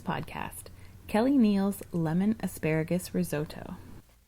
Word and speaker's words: risotto: was always taught that the correct way to say risotto is risotto but i always feel a little pretentious saying it that way so i'm making yourself